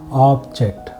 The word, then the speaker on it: object: So say for example we said object. Okay, we stayed on ob, the first syllable, a little more.